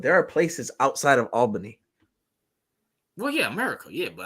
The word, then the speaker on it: Albany: you're I'm glad you right I'm glad you pronounce it right it's Albany not ALB or whatever you say yeah yeah it took me some time but now I learned Albany there you go upstate listen it's Upstate New